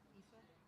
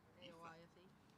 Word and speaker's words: Aoife: to say the name Aoife. I just say what? Aoife. A-O-I-F-E. Aoife. Oh, Aoife.